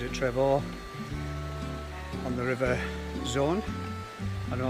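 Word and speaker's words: Saône: Yesterday we stayed at Trevoux on the river Zone. I don't know how to pronounce that now. A bit like Rhone. Zone.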